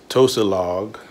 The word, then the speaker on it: Tosilog: s she corrected my pronunciation Tosa log you come and say